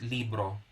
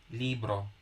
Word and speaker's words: libro: accent for example okay in spanish we call it libro libro we don't put an accent because there is uh there is already an assumed knowledge that if there is no accent the accent falls on second to the last syllable yeah that's unassumed knowledge